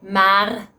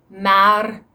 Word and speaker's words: maar: There are some Dutch people who go through the effort of pronouncing this either with the French or Spanish R. So people can say maar or maar. People can say werk or werk. Even I do that occasionally